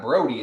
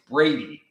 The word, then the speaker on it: Brady: and check out wait it's not brody it's brady oh brady i've been